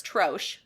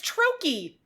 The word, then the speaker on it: trochee: Like in French, there's douche, C-H-E, So I thought it was Troche, Troche. Nope. Take a guess how it's pronounced. Just go for it. Troche. What do you think? Trough. Okay. You know, that's a good guess. It's trochee. Trochee.